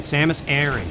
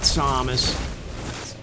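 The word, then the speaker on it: Samus Aran: i don't know yeah i gotta keep saying samus aaron samus aaron not samus but then a quiet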